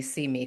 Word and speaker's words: CIME: We pronounced CIME, See Me, because we were like, that's cute.